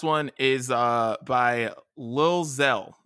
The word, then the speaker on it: Xxel: is uh by lil zell his name is spelled xxel i think that's how you say it but it's zell is how you say it xxell is gonna spell it but anyways the song